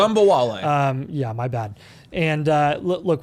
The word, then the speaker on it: Ogunbowale: I would love to see you pronounce it correctly. Ogunbowale.